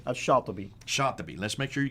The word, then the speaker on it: Shatibi: Now, how would you pronounce his name? Shatibi.